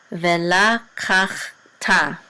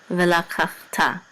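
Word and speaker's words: וְלָקַחְתָּ: This is kach, ve la kach, and the shiva is silent. And then this tav with the kamatz under is ta. So vela kach ta, vela kach ta, and vela kach ta.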